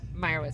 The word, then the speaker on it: Meyerowitz: How do you say it? Meyerowitz.